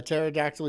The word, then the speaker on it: pterodactyl: you can't hear a pterodactyl urinate? Because the P is silent.